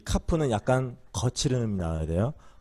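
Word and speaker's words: כף: 자, 카프. 발음이 어떤 거예요? 키역 발음. 예. 그래서 이렇게 하면 어떤 발음? 카. 네, 이 카프는 약간 거칠은 음이 나와야 돼요.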